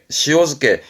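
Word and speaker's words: 塩漬け: 발음은 시오즈케 여기에는 니골이 땡땡 붙습니다. 발음이 시오즈케 소금에 절였다.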